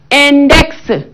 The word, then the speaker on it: index: Mais dans d'autres, hein, on dit la consonne muette peut se prononcer dans des mots et non comme index, Alex, Félix, hein, latex. Et là, on écoute notre consonne X à la fin de ces mots.